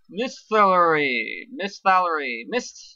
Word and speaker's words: Misthallery: The town with the long and hard to pronounce name. Misthallery.